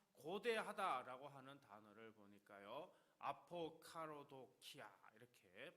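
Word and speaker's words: ἀποκαραδοκία: 아포카로도키아 이렇게 발음을 합니다.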